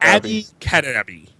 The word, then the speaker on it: Abby Cadabby: Abby Cadabby.